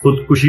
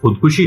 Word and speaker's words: خودکشی: مثلا لفظ خودکشی کو لے لیجیے. بعض لوگ اسے خودکشی پڑھتے ہیں اور بعض خودکشی، حالانکہ اصل لفظ خودکشی ہے.